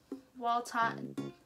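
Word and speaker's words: Wlatian: But it is like it's a weird one to pronounce. It's Waltian, W-L-A-T-I-A-N.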